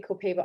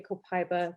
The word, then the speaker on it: Copaiba: And then you've got, you say Copaiba, I say Copaiba, they say Copaiba. Where they source it, same thing again, tomato, different pronunciations.